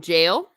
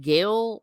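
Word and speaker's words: gaol: uh kilmem jail and it's spelled g-a-o-l I call it jail or are you supposed to pronounce it like Gail help me help me out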